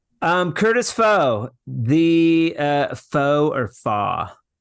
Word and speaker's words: Fach: Yeah, I have a very, very oddly spelt last name that Yeah, will never be pronounced correctly if just read. So I yeah. kind of tried to spell my name how it's pronounced for my business. So it's spelled Right. Fach, so Fach, but it's Yep. pronounced Fa. So I But it's chose pronounced Fa.